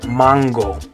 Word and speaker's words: mango: Okay, but remember that in Spanish the A is always going to make an ah sound. Okay. So in English it's mango, but in Spanish you're going to say mango.